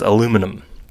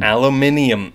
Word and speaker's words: aluminum: level of thing and there are a few words that I really can't say such as aluminum yeah you're crushing it you're good no I got that one wrong aluminum so I say it like a British person I say aluminum uh yeah anyway that